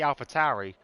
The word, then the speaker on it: AlphaTauri: It's like the AlphaTauri. I always thought when I first read it was AlphaTauri because it looks like a Taurus. So you think Tauri, but no, it's Tauri. It's Tauri because it's Italian.